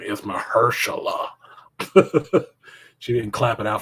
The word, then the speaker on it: Mahershala: so stupid don't you know his name is mahershala she didn't clap it out for her she